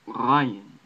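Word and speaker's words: غ: This letter, I believe, is preserved in modern Arabic as Rayin, Rayin, Rayin. It's a roll from the back of your throat, not like the roll at the tip of your tongue.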